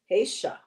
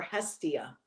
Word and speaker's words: Hestia: So your goddess that came up today is actually Hesha or Hestia, depending on the pronunciation.